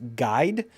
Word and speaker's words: GYD: They have this new feature called GYD, and I think it's pronounced Guide.